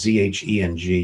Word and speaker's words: Zheng: to make sure I say his name is Z H E N G Zheng Zheng.